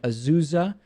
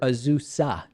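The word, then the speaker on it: Azusa: a polling place in azuza or ausa I think is the right way to pronounce it California the LA County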